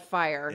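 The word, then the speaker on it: FYR: watch it's social media it's spelled F Y R but it's called fire yeah please hit us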